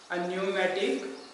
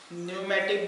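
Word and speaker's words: pneumatic: न्यूमेटिक bones आते हैं। P silent है, ठीक है।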